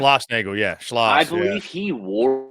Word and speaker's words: Schlossnagle: Jim Schlossnagle, correct? Schlossnagle, yeah.